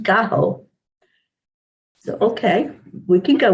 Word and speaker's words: gallo: good morning joanne good morning and gene says gallow is chicken in spanish but it's pronounced gaho so okay we can go with that and